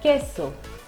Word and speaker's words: queso: When Q has UE after it, it gives us a K sound, and when Q has UI after it, it gives us a key sound. The letter U is not pronounced over here.